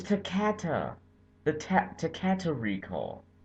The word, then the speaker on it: Takata: with 4.3 million vehicles thank you takada or takata oh i've been saying it wrong this whole time it's takata the tap to cater